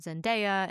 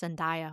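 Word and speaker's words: Zendaya: And that's the one with Tom Holland and Jake Gyllenhaal and Zenaia. And I think I've been pronouncing her name wrong. I think it's Zenaya, which I am so sorry.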